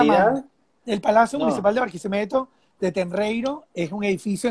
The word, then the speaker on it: Barquisimeto: El Aula Magna, el Palacio Municipal de Barquisimeto, de Tenreiro, es un edificio en concreto, obra limpia, completamente brutalista.